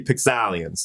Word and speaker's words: Pixalians: A lot of people, they say that's Pixalians, but no, it's actually Pixalians. That's how you pronounce it.